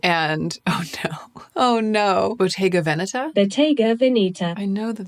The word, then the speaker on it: Bottega Veneta: Bottega Veneta? Bottega Veneta. I know that that's not it. We want the Italian pronunciation.